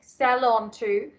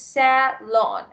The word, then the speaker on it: salon: beauty salon or just I think sell onto but the pronunciation is sad lawn s-a-l-o-n thank you okay all